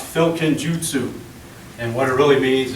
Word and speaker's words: Filkenjutsu: yes big long word it's pronounced filkin Jutsu and what it really